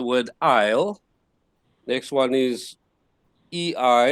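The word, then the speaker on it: ει: aisle next one is e i as in eight o i as in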